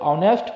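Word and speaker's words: honest: ये मीनिंग यहां शुरू हो जाएगा उन्हें जब ऑनेस्ट को ऑनेस्ट हो जाएगा जब हम जब ऑनेस्ट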